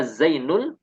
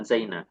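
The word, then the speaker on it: زينُ: Zaidun marfu dengan dhammah, maka Zainul juga marfu dengan dhammah. Zainu dibacanya Zainu, bukan Zaini, bukan Zaina. Karena Zaidunnya juga dhammah.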